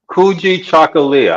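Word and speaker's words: Kujichagulia: The second candle is Kuji Chagalia, which lots of people have trouble pronouncing, but it's Say it again for us, Dr. Green. Kuji Chagalia. Kuji Chakalia.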